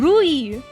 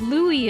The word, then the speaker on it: Louis: You're not gonna catch me saying Regoshi and Rui. No. Unless I'm speaking Japanese, I'm not pronouncing shit like that. No. It's Louis and Legoshi.